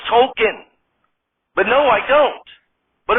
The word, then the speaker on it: Token: classmate token when Teddy was killed Belushi it's pronounced Tolkien but no I don't but it wasn't Tolkien